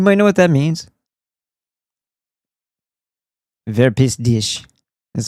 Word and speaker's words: Verpiss dich: "Wer pisst dich?" Is how it's actually pronounced.